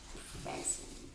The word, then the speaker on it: present: And the accents on the first syllable.